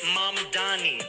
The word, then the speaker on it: Mamdani: And furthermore, the name is Mamdani. M-A-M-D-A-N-I. You should learn how to say it.